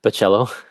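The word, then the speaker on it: Bachalo: How did you pronounce it again? Curtis? Pacello.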